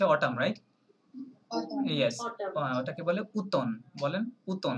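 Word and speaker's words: automne: right yes ওটাকে বলে উতন বলেন উতন এটা আবার ভুল করবেন না এমটা silent okay that is no pronunciation of ফর M letter M okay so উতন okay let's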